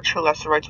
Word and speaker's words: Chelicerate: There are a total of 4 CHELICERATES within sector 0 on planet 4546B, and 3 void CHELICERATES within the edges of the sector.